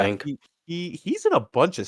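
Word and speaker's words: Leung: That is Ken Young. Ken Young as Detective Singh. Is it Ken Luang? Is that how you say it? Yeah, sorry, Detective. Luang, probably Yeah, Luang.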